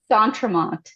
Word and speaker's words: D'Entremont: to hear from D'Entremont. Did I pronounce that with the right emphasis on the right syllable? I hope. We say D'Entremont, but D'Entremont, a little less French nasally stuff going on.